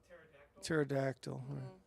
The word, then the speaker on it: pterodactyl: Pterodactyl. Right. And like a silent P.